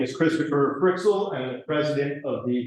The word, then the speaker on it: Freixel: Is that how you pronounce? Freixel, okay.